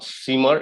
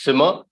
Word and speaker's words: simmer: melt boil mix squeeze simmer not seamer it's simmer great steam yeah that's